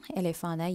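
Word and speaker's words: éléphant: First word எலேஃபாங், எலேஃபான யானை. அந்த கடைசியில் வர டீயை நீங்கள் இக்னோர் பண்ணி வந்து எலேஃபான் தான் சொல்லணும்.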